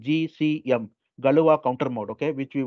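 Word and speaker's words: Galois: the one is called galua counter mod I used to pronounce this as Galax counter mode I was told that this is wrong because this is a French word like when you write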